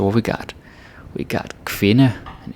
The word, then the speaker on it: kvinde: I remember some Americans pronouncing this like que, like it's a Q. It's not a Q, it's a K and a V, okay?